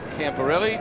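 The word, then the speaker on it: Camporeale: one behind to scott camparelli that is the preferred pronunciation that he likes camporelli and not other versions he says it's different back in italy but that's the aussie one that he knocks yes the italians uh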